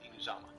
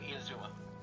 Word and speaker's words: Inazuma: Otherwise, the entire story had nothing to do with Inuzama. Okay. I mean, Inazuma.